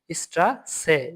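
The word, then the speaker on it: Straße: তারপরে double S, এটা মানে কি ডাবল এস, এটা এস এর মতো উচ্চারণ দিবে। এই যে এস এর যেটা, এটা এস এর মতো উচ্চারণ দিবে। স্ট্রাসে, স্ট্রাসে, স্ট্রাসে মানে কি রাস্তা।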